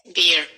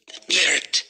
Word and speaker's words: beard: Beer. No. Beard.